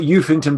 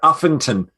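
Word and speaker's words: Uffington: right it's actually there not eufington but affinton it's spelt eufington with a u at the front so that the elfington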